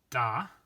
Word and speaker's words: da: that God may be, da is the stem of do, dare, dedi, datum. This is going to be a short a because it's an irregular verb.